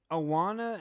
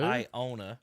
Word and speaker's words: Iona: Awana at Alabama? Awana. Who? Iona. Iona. Okay, I was about to say. Spell it, Iowa?